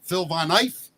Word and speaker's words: Phil Von Eiff: Now I'm gonna screw up the pronunciation. Phil Von Eiff.